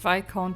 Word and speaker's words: Viscount: Ich habe Viscount immer komplett falsch ausgesprochen. Immer mit S.